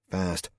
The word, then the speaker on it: FAST: I was fast, he said, pronouncing it fast.